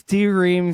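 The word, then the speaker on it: D:Ream: pronounce it Dream or D-Ream? I think it's D-Ream. So in the Conan O'Brien interview I listened to with him, he said it's spelled D-Ream, but it's pronounced Dream.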